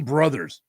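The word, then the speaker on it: Brouthers: And he doesn't even spell it correct. It's B R O U T H E R S. Dan Brothers.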